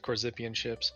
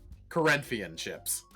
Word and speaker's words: Corinthian: time you were talking you said corzine ships no one has said the way that that that nation is pronounced correct once and i love it say it corinthian chips yeah i said it perfectly you said good zippy okay so it's like first corinthians whatever the [ __